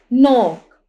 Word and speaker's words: knock: इसी तरह नोक, यहाँ पे के जो है साइलेंट है, KNOCK, नोक।